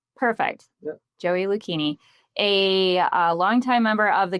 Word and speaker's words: Lucchini: Like zucchini with an L. Perfect. Yep. Joey Lucchini, a longtime member of